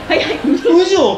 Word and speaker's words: 烏城: そう、岡山城がな、カラス城と書いて宇城と読むのでな、こ